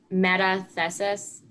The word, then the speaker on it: metathesis: Metathesis?